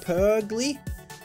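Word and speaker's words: Purugly: twenty that is a per glee I just spell it no it's like per glee uh-huh Polly hot why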